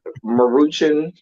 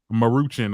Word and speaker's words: Maruchan: as good you know they're muting how you pronounce it that's right Maruchan Maruchan okay let's be very clear for 33 said